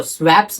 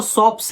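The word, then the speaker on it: swaps: अब देखो स्वैप्स भी बोलते हैं बहुत लोग सॉप्स बोलते हैं। अब जो करेक्ट प्रोनाउंसिएशन है वो सॉप्स है, भले स्पेलिंग SWAP स्वैप्स करके स्पेलिंग है, लेकिन बोला जाता है सॉप्स।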